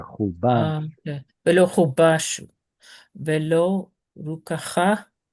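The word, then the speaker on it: חֻבָּשׁוּ: ולא חובשו Well, where's ולא, your stress? ולא לא חובשו Pausal, right? ולא did I say it right? Yes, you Hubash. did. I was just saying that it's in pausal, and that's why it's stressed there.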